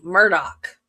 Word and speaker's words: Murdaugh: That it is spelled Alex Murdo. He pronounces it Alec Murdoch.